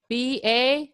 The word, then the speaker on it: ba: And the R together, so B-A, how does that sound? What do you think? Ba.